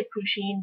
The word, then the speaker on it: Pusheen: I say pusheen because I tried to do it based off of Japanese pronunciation. But that is just how I pronounce it.